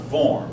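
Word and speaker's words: Worms: eventually the concordant of that word is pronounced VOR so I know it's spelled with a W but you know German uh reached a compromise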